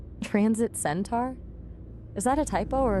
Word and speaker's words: centaur: I mean, it was spelled C E N T A R. That's centaur to me.